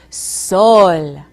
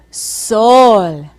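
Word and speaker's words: sol: word for sun in Spanish listen as I pronounce it for you soul soul now let's say it together Soul now say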